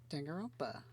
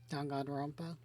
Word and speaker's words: Danganronpa: And what better way to start than my favorite game, Danganronpa, which is not pronounced correctly. Danganronpa, that sounds right.